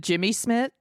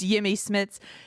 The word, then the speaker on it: Jimmy Smits: they introduce was it jimmy smith is that how we pronounce his name how do we pronounce it again jimmy jimmy smith yemi yummy it's jimmy smits to introduce him they